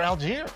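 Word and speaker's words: Allgeier: You are the best pronouncer in the game. Can you do it for me? Oh, that's Tyler Algier.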